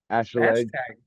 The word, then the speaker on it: Acheleg: Acheleg.